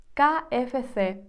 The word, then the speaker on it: KFC: його називаю кафе це іспанці називають KFC kfs так як вимовляється букви іспанською А ось бургер Кінг